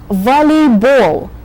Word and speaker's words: volleyball: Notice that all the games that have the ball syllable in them have the accent on that syllable. So you say basketball. You have to save your breath for the very last syllable in this word, which carries a very strong accent.